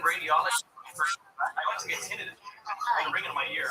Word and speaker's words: tinnitus: fucking radiologist, I went to get tinnitus.